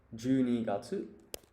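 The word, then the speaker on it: 十二月: And you would pronounce this Junigatsu.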